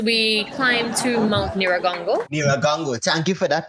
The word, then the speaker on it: Nyiragongo: Nyiragongo. Thank you for that pronunciation.